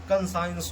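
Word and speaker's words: conscience: गया, कॉन्सियस हो गया, कंसाइंस हो गया, अगर कभी भी एस के बाद सी आता है तो हम लोग सी को नहीं पढ़ते हैं, सी हमारा क्या हो जाता है, साइलेंट हो जाता है।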